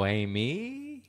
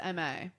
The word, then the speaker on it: Aimée: Aimée? Aimée. It's actually pronounced M-A. M-A. It's Aimée, but I just say because everybody can't figure it out.